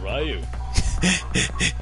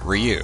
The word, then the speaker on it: Ryu: I don't work here because my name's not Ryu. It's Ryu. Hadouken! The Japanese version pronounces it Ryu. The English version pronounces it Ryu. Pretty much every nation out there pronounces it as Ryu.